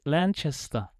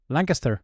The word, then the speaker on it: Lancaster: Um Oh, man, I can't pronounce the game. Lan- Lan- Lanchester. Lancaster.